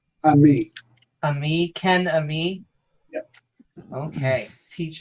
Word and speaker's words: Ammi: um is it how is your last name pronounced Ami Ami Ken Ami okay teach them and